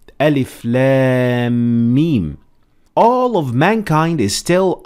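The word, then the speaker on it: الم: reciting the Holy Quran, these letters have to be recited like Arabic alphabet. So you don't actually pronounce it as a word, but you actually have to spell it as if you're teaching someone how to spell the Arabic alphabet.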